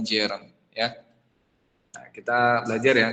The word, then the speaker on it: gerund: bukan bahasa Inggris gitu gerun tulisannya car bacanya Jen ya Nah kita belajar